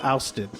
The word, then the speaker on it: Aoustin: Like I will go to Austin, Aoustin, okay, which is pronounced here Austin.